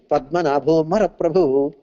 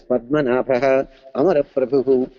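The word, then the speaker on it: पद्मनाभोऽमरप्रभुः: He was only pronouncing Padmanabho Mara Prabhu. This learned Vidwan was passing by and corrected, my dear sir, you should not pronounce as Padmanabho Mara Prabhu. You should break it as Padmanabha Amara Prabhu.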